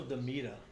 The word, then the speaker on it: DeMeta: her about daddy girl it's rachel demeta that's how you pronounce her last name let dimita speak i'll tell